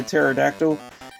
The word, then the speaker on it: pterodactyl: And of course, we do have this pterodactyl, which they say you never hear when a pterodactyl goes to the toilet because they're because the P is silent.